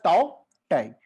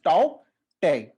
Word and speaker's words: Tauktae: is his name as tao tang in this the letter k is silent so it is pronounced as tao tang we will be understanding